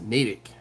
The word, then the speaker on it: Natick: natick and like like matt ich but it's pronounced natick and i'll never forget it uh clinton says